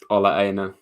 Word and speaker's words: Ola Aina: How do you pronounce his name, Rads? Ola Aina.